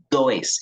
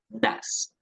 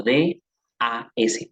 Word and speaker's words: does: no vayamos a decir does. Esto no se pronuncia does, se pronuncia das, como D-A-S, das, tal cual así como lo escucharon.